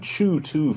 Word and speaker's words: CHOOH2: However, Petrochem, the leading producer in Chew-2 fuel, at least I think that's how they pronounce it, which is a